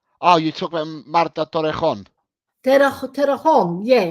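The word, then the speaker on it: Torrejón: It's spelled Tororejon. Oh, you talk about Marta Torrejon. Terrajon. Yeah, Torrejon.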